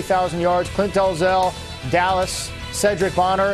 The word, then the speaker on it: Sherdrick: yards clint delzell dallas cedric bonner it's yes it's spelled sherdrick but it's pronounced cedric he's close to 41